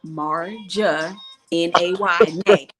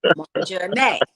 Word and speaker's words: Marjane: No, So now when people get stuff from us now, it's gonna say pronounced Marja Nay. Marja Nay.